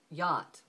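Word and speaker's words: Jot: the letter J but they don't call it the letter J they call it the letter yacht and the sound of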